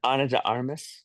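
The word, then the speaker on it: de Armas: Him and Ariana de, however you say her name, together de Armis.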